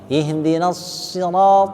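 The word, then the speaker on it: اهدنا: dikit sekali SH ya Jadi kalau dibaca SH pasti keluar anginnya ya Jadi bukan S ya ini memang banyak yang agak susah nih ketika pelafalan huruf SH ya ihdin ihd ihdin Yang penting kedengaran S SH ya Coba SH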